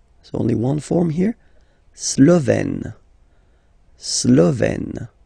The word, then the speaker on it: Slovène: La Slovénie, so only one form here, Slovène. Slovène. Remember, E accent grave, you open it.